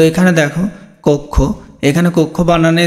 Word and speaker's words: কক্ষ: তো এখানে দেখো কক্ষ, এখানে কক্ষ বানানে যে এখানে কক্ষ বানানটা দেখো, খেয়াল করো এখানে দেখো।